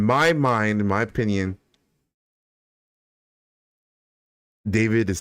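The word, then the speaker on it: D4vd: Uh so so David the singer uh so his name is spelled D4 VD.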